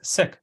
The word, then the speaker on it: Sikh: a Hindu or Muslim I say C although the probably the proper pronunciation is sick so he has a